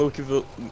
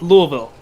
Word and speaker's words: Louisville: Oh no, I think Paducah and Lukeyville and Lukeyville. Wow. Lukeyville. Lukeyville. New name. It's not Lewis or Louis. It's Lukey. No, it's Louisville. Louisville. You gotta Yeah, say it like you're from there.